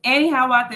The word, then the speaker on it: AneHiawatha: I don't know if I was sure I was pronouncing it right. It is AneHiawatha, and rest in peace to Guns.